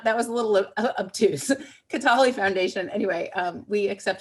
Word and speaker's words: Kataly: what how to pronounce ketali i suggested it sounds a little like beyonce yeah bialy that's um but that was not that was a little obtuse katali foundation anyway um we